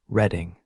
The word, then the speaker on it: Reading: The reading, pronounced reading, like the past tense of Reed, was a real railroad company that had been serving Philadelphia and its surroundings since 1833.